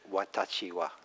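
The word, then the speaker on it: 私は: There is a way to say I in Japanese, which I had learned, and it requires 4 syllables. Whereas in English, it's just one.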